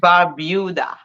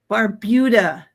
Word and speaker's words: Barbuda: I always pronounce it Yes, wrong. I'm sorry. Antigua and Barbuda. Barbuda, not Barbuda.